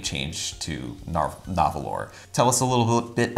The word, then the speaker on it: Nahvalur: I'm gonna keep calling it Narwhal because I can't spell Nahvalur. I only learned how to say it correctly, 2 weeks ago? It's been around for just now. Right. So I rehearsed it. It does say Nahvalur on the box, but don't be fooled.